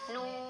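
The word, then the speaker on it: ن: Nah, ini tidak kita baca na, tidak, hati-hati ya. Bukan na, ini kalau di awal surat ini bacanya kita kembali ke nama asal dari huruf ini, yaitu nun ya. Nun itu terdiri dari 3 huruf, yaitu nun, wawu sukun, dan nun sukun ya.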